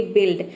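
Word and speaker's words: build: pronounce करते हैं और कहीं पे इसे आई प्रोनाउंस करते हैं जैसे कि बिल्ड यहां पे देखिए बी का ब हो जाएगा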